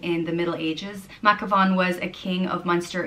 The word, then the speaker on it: Mathghamhain: So I guess depending where in Ireland you're from, you might pronounce this name different, but I'll go for Mathghamhain.